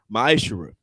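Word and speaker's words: מעשר: Means tenth in the Hebrew, and it's pronounced ma'ashera.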